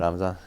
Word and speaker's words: Ramzan: Ramzan, yeah.